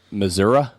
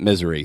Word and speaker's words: Missouri: Which is, it's a weird state because if you live there, they pronounce it Missouri. oh, yeah. And if you're just visiting, you pronounce it misery.